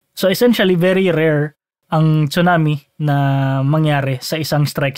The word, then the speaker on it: tsunami: Science By the way kung napapansin niyo tsunami ang pagkasabi ko at hindi Tsunami dahil Tsunami yun yyung correct na pronunciation dahil Japanese word ito yung Tsunami Ano yun American na pronunciation yung tama talaga ay Tsunami Anyway going back very